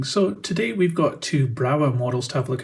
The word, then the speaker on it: Brawa: So today we've got two Brawa models to have a look at, or actually maybe it's pronounced Brava.